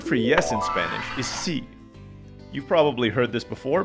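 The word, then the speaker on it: sí: yes in spanish is c you've probably heard this before but it's worth repeating it's pronounced like the word see like a body of water the word in spanish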